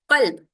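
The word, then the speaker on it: قلب: One is qalb with a qaf. The next one is with a kaf, kelb.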